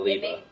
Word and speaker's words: Liba: Reba, but with an L. Yeah, so Liba.